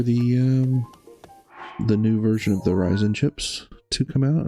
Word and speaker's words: Ryzen: new version of the Ryzen chips to come out, or Ryzen chips. I think it's Ryzen. I think that's the technically correct way to say it.